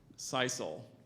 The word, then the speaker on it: sisal: pronunciations there's just the one asadero a-c-a-d-e-r-o asadero is spelled a-s-a-d-e-r-o okay now I took French so right there sisal can you define it cycle is a strong